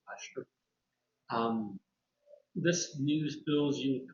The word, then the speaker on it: Leicester: It looks like Gloucester, but it's pronounced Leicester.